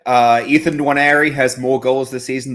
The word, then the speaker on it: Nwaneri: Nwaneri.